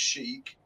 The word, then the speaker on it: chic: It's pronounced chic.